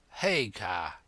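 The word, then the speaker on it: Haigha: name's his name is haa he pronounced it so as to rhyme with mayor I love my love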